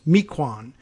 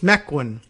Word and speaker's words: Mequon: name of the town m-e-q-u-o-n which uh an east coast person may be used to uh algonquian indian naming taxonomy you might say was meequan but it's mequon apparently out there in wisconsin i don't know whether